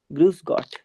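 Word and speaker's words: Grüß Gott: बाद एक होता है ग्रूस गॉट ग्रूस गॉट और जो ये बीटा साउंड है इसका मतलब होता है डबल एस तो डबल एस को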